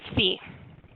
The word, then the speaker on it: phi: Okay, kids, it was driving me nuts not knowing how to pronounce that Greek letter, so I Googled it. It's phi.